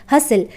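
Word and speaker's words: hustle: क्या होता है यहां पर टी साइलेंट है हसल हसल का मतलब होता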